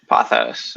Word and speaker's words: Pothos: wait let's first settle the question is it potus pothos pathos that's how i pronounce it cool cool cool um yeah is